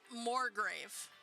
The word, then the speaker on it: Morgrave: this is the word morgrave everybody roll me a history check please okay huh m-o-r-g-r-a-v-e oh wow actually how it sounds right I mean they